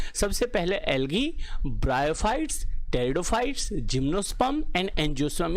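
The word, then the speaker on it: pteridophytes: फिर next class में हम ब्रायोफाइट और टेरिडोफाइट्स पढ़ेंगे, इसमें पी साइलेंट है बच्चों।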